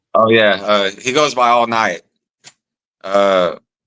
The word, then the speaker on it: Alniyat: He goes by All Night. Uh, Spell it.